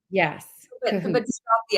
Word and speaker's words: Kohut: pronounce it, I say it's like you're in cahoots with someone, Yes, but Kahoot. drop the S, so cahoot. But some Kahoot. people say Kohut, which is fine too. But it's Um, really Kahoot.